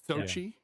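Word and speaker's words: Xochitl: I cannot pronounce her first name. Is it Sochi Gomez. Sochi.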